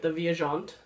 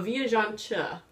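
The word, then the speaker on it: Viajante: a chi or CH kind of a cha at the end so viaan cha and it's Portuguese for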